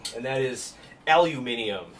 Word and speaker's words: aluminium: correctly and that is aluminium should not be aluminum if we are us americans are 100 wrong on that front it should be aluminium uh we only call